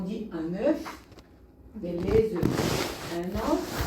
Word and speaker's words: œufs: Et les œufs, dernière chose, les œufs, on dit un œuf, mais les œufs. Un œuf. Les œufs, en pluriel, on ne prononce pas le F. En singulier, on le prononce.